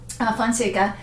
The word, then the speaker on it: Fonseca: of this port house, Fonseca. So it, makers of wines, rhymes. It rhymes with wines?